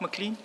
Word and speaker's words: McLean: Do you pronounce it McLean? McLean, not toothpaste, McLean, but the A In- out.